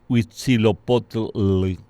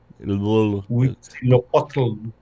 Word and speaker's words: Huitzilopochtli: nombre tan difícil e impronunciable que que es Huitzilopochtli. tú sabes quién Es, pronunciaba bien, hablaba náhuatl, pero perfecto. no, Zapata, Zapata, claro, sí, porque estuvo en México. claro. Entonces él dice Huitzilopochtli, Huitzilopochtli.